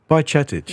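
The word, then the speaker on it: Bajčetić: period, but I think we should touch on Bajcetic, and I can never say his name right, but we're going to go with that. Bajcetic, yeah. I googled it. You googled it. Go on once more. Bajcetic.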